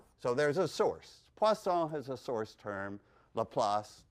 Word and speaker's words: Poisson: So let me, underneath Laplace, let me write Poisson. You got the pronunciation, the brilliant French pronunciation there of Poisson.